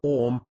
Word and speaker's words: Om: Om, pronunciation Om, the most well-known and universal of the Biha mantras.